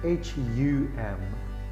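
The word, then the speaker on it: ham: It's spelled H-A-M, but pronounce it H-U-M, hum.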